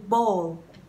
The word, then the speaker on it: bowl: Tương tự cái từ bowl, bowl, cái bát ấy, ok? Bowl and salt, salt. Âm O dài, salt, salt and bowl.